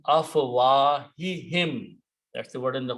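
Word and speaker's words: أفواههم: Harf jar will change afwahu to afwahi in order to pronounce a proper tajweed, even though pronouns don't change by the grammar, but by tajweed they can change. So it becomes afwahihim.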